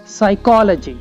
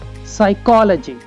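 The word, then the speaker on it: psychology: ये जो वर्ड्स हैं इनमें पी लेटर साइलेंट है। Psychiatrist, psychiatrist. Pneumonia, pneumonia. Cupboard, cupboard. साइकोलॉजी, साइकोलॉजी।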